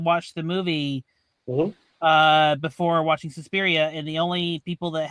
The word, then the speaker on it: Suspiria: I always love saying it that way. Suspiria. I think that's the proper Italian pronunciation.